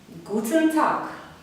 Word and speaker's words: Guten Tag: Guten Tag, guten Tag. Т по-німецьку ми вимовляємо криху з придиханням. Не просто так, а т, т. Так. І г на кінці так само оглушається.